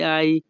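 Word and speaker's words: hai: হবে মি আই সেন্তিত এখানে এইচ এ আই এর উচ্চারণ হবে আই ইতালিয়ান ভাষা মি আই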